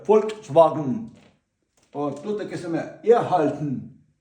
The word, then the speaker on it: Volkswagen: дехто кажуть, е-е, читають букву В на Volkswagen і читають Volkswagen. Нема такого. Є Volkswagen.